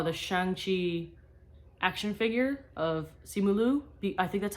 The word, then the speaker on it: Simu Liu: when I saw the Shang-Chi action figure of Simu Liu. I think that's how you pronounce his name, Simu Liu.